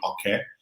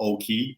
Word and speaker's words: Oke: My name is Oke, not Oak or Oki, as some people may have mispronounced.